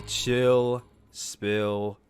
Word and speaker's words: Chill Spill: This is the 44th edition of the Chill Spill Podcast. The S is silent, by the way.